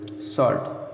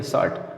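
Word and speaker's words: short: शॉर्ट, ठीक है, शॉर्ट कहेंगे, शार्ट फॉर्म, शार्ट नहीं शॉर्ट, आर साइलेंट करेंगे क्योंकि आर के बाद स्वर नहीं है।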